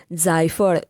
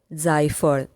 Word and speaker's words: जायफल: Nutmeg यानी जायफल को मराठी में जायफल कहते हैं, जायफल। प्रोनाउंसिएशन अलग है।